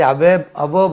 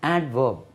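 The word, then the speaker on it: adverb: डी नहीं बोलता है, तो इसमें भी डी नहीं बोलता है, बोलने से अवर्ब हो जाएगा। इसमें डी को हम तलफ़ुज़ करेंगे, डी का तलफ़ुज़ रहेगा। वी हैव to pronounce एडवर्ब, एडवर्ब, एडवर्ब।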